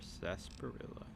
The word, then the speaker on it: sarsaparilla: time for sunset whatever sarsaparilla because you don't pronounce the r I'm sorry whatever Pest